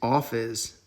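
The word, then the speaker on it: ὄφις: So this word for serpent, I think, is office. Office. Like as weird as it sounds. So in English, office is like a room where you work, like sit at a desk.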